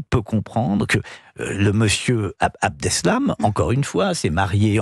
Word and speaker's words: Abdeslam: Personne ne peut comprendre que monsieur Abdeslam, c'est comme ça qu'on prononce.